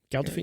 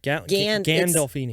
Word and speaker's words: Gandolfini: Galdolfini? No, how do you say it? Galdolfini? Galdolfini? Gandolfini. Gandolfini. Gandolfini.